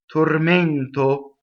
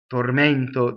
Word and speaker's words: tormento: Now you have a strong mono syllable but very slight double m tormento tormento. The e is closed. See stressed and closed.